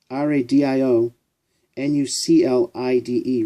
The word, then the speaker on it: radionuclide: RADIO NUCLIDE, radionuclide, is the proper pronunciation.